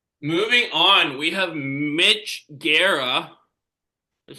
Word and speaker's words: Guerra: So, moving on, we have Mitch Guerra. is how I'm gonna pronounce his last That's name.